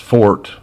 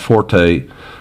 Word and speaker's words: forte: dictionaries, it's been pronounced fort. You know, they put that little triangular mark, that little chevron above the O and no E. It's pronounced fort, not forte. Forte is an Italian musical term.